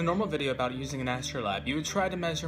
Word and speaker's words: astrolabe: conducting that research, I also found out it's pronounced astrolabe.